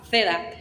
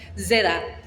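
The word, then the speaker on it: zeta: de esta letra pero no se llama Z se llama seda seda es un sonido muy parecido como si tuviera una y adelante y se pronuncia precisamente de ese bien continuamos Vamos a siguiente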